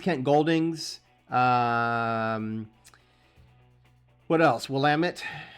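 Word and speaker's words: Willamette: goldings um what else wamit that's how you pronounce it I can tell you that of all the stuff I've said today I can promise you wamit is the way you pronounce wamit because I literally live 20 minutes from the river so uh sorry but I hear that one mispronounced a lot and you know what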